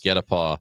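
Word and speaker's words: guet-apens: It's GUETAPENS, but it's pronounced get a paw.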